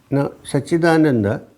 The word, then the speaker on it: Saccidananda: Now, Saccidananda is one word, but it's made up of 3 syllables. First syllable is Sat.